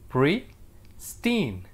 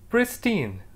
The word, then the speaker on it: pristine: is pristine that's right pristine how do we pronounce it pre steen pristine as a part of speech it's an adjective